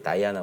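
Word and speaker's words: Diana: 따이 않은 거든요 그러니까 원래는 디아나 라고 하는 여신이 있었던 거죠 거기 스타 뭔가 그렇죠 이제 이름 이제 이하나 의 영어식 발음 이제 다이아나 보니까 대 1 라고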